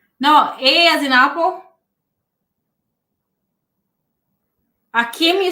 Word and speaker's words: Akim: Akim A K I M. Yes.